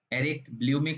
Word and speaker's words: Bleumink: Erik Bloemink Scholarship at University of Groningen. That's pronounced like that.